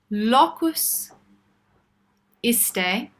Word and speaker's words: locus iste: So we've got locus, as in location, but as in lock. Locus iste. Let's think. Yeah, like this day, but iste.